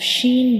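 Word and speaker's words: شين: So in the case of Sheen, we will also touch the center of the tongue to the upper hard palate. So this is the pronunciation of sheen.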